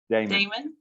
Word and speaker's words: Daemen: today with paul paul how do you say your last name damon and uh you are